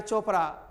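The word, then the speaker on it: Chopra: मेरे को एक लड़का ने मैसेज किया सर CH है ना OPRA चोपड़ा, इसको कोपरा थोड़ी बोलेंगे।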